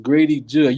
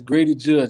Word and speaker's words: Grady Judd: You pronounced it, I think Jude or something like that. But I thought it was Jude. It's Judd. Yeah, it's Grady Judd, just like the Judd singers, the actors.